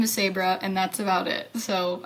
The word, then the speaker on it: Sabre: and I say it again, they're less likely to remember that is if I go, it's like Porsche but Sabra.